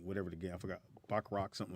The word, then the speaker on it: baccarat: Baccarat, yeah.